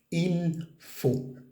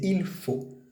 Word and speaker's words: il faut: pronunciación lo que sea IL Fu F a u t se dice IL Fu la t al final no se pronuncia normalmente en francés IL Fu y la